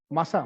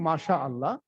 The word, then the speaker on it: মাশাআল্লাহ: মাশা করে হাঁটি না, মাসা, মাসার দেখেন মাসা, মাসা করা। তো এনিহাউ সঠিক উচ্চারণটা হবে মাশা আল্লাহ।